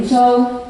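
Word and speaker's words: Tsou: My name is Zhou, and my last name Zhou is spelled T-S-O-U.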